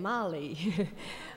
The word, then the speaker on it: Mali: Maybe my Texas accent not pronouncing Mali as in the girl's name. Mali.